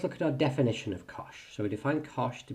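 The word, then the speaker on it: cosh: cosine s and tangent um but these are Kosh cinch and tanch um so just as a quick pronunciation Kos seems fairly obvious the sign with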